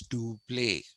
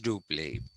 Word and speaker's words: Dupleix: Everybody of my age group went to school and learned his how to pronounce his name. We were told it's Dupleix, and it is Dupleix, but the spelling is EIX.